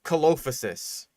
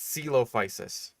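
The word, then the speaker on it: Coelophysis: people struggle with because it's like c o e it's like caloposis. No, that's not quite right. It's it's celopicis.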